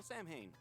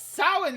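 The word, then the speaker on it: Samhain: And Halloween originated from the pagan festival Sam Hayne. That's sin. Mr. Teacher, learn your pronunciation, which marked the end of the harvest and the dwindling berry between humans and the other world.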